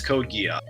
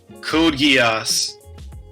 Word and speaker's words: Code Geass: character literally carried this entire series and it's code gear yes code gear someone no it's actually i call it wait you could pronounce it i pronounce a geese oh that's